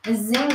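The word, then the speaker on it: Nzinga: I think it's Zinga. I think the N is silent.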